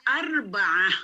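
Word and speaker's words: أربعة: kemudian tulisannya seperti ini dibacanya arbaah arbaah dengan Arba KUD Kalim tulisan seperti ini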